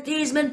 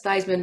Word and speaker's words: Theismann: name is thieves man it's been thiesman for generations and we're proud of this name and bob says well sir uh your son's up for the heisman trophy and because theismann rhymes with heisman we believe he has